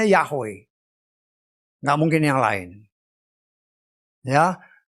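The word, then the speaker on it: Yahweh: tulisannya tahannya itu enggak ada kata bantu ya huruf mati semua lah mereka pasti tahu baca Yehwehah itu bacanya yahwe enggak mungkin yang lain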